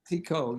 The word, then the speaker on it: Clicquot: Woof Clicquot, is that how you pronounce that name? Clicquot, yes.